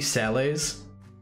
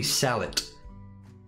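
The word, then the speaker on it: sallet: this are there any sales you know what's weird apparently it's not pronounced Sal despite it being French it's literally salot oh a Hound skull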